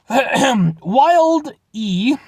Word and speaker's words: Wilde: Wilde E, you put the E, so that's how I'm pronouncing it, is the first chip bold enough to create a delicious chip crafted from 100% all-natural chicken breast.